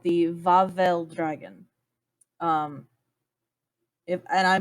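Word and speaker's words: Wawel: good at it yet it's spelled w-a-w-e-l but in polish w's are v so vavel dragon its other name are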